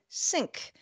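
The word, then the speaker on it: Cync: brand under the name Sync. That's spelled with a C, C-Y-N-C.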